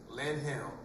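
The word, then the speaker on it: Lanham: The address again is um Redeemer's Church of Christ one 0 one Aerospace Road Lam. That's L A N H A M LM. The H is silent.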